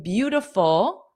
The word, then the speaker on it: beautiful: So this I in beautiful is not pronounced as an I. It's pronounced as a uh beauty.